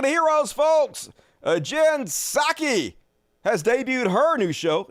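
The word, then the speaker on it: Psaki: Heroes folks uh Jen saki has debuted her new show inside with jinsaki it's not your best name Saki I think the p is silent and uh had a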